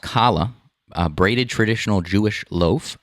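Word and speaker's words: challah: see diane said uh it's it's pronounced kala uh braided traditional jewish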